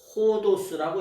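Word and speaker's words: ὁδός: 그런데 예수님께서 에고 에임이 호도스라고, 여기에 오도스인데 여기 강기식 강순표가 붙어서 호도스라고 읽어요.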